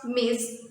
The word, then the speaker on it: Ms.: use the title miz well look how i pronounce miz it is let's take the pronunciation